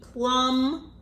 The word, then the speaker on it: plumb: goes X and B with a silent B plumb oh okay you have a